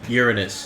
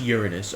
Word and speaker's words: Uranus: Uranus. It's pronounced Uranus, alright? Well, I said Uranus.